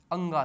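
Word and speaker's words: ङ: कैसे करते हैं हम अंगा से अंगा ठीक है दोस्तों बहुत सारे स्टूडेंट इसको ढ कहते होंगे लेकिन इसका उच्चारण कैसे करते हैं अंगा से ठीक है जो नीचे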